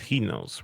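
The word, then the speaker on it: ἑνός: The word one in Greek is pronounced henos, right?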